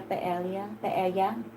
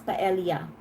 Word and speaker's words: paella: Yeah, in the Philippines, we pronounce that with a hard L.